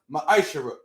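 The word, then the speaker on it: מעשר: it means 10th in hebrew and it's pronounced maisha 10 10 of every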